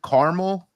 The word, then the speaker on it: Carmel: By the way, we would pronounce it Carmel. Totally different. Carmel, Indiana. It's Mount Carmel is how we pronounce it in San Diego.